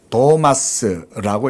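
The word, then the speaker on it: Θωμᾶς: 영어식 이름 토마스입니다. 헬라어로 도마스라고 읽습니다.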